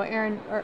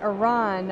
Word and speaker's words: Eran: great time so far to my left is Aaron who is an evangelist at perfecto Aaron sorry Iran I apologize for mispronouncing your name so how does it show